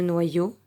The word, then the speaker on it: noyau: Si on le lit comme 2 L, comme le son ye, on va faire no. Noyo. Non plus. Ça sera les deux. Comme si on entendait wa et on entend aussi yo.